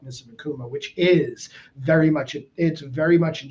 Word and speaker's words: Akuma: The emphasis is on the A. Yeah, you gotta like try not to overpronounce it. Like you gotta say Akuma, not Akuma, because then that's even weirder.